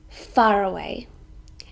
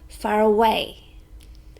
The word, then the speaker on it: far away: Sometimes we stress the first one, far away, and sometimes we stress the 3rd one, far away.